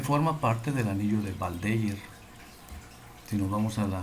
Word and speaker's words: Waldeyer: más o menos así, con W, pero como es en alemán, la W suena como V, Waldeyer.